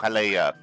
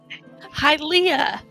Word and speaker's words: Hylia: Ring is sent to Hylia. Hylia. See, I remembered. I said it right this time. You still aren't saying it right, but that's okay. Okay. What is it then? Hi, Leah.